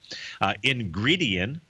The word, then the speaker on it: Ingredion: Ingredion, yeah, that's how you pronounce it.